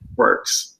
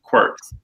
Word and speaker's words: Qwerkz: And we're here with none other than the founder of, it's pronounced Qwerkz, right? Qwerkz. Yep, Qwerkz.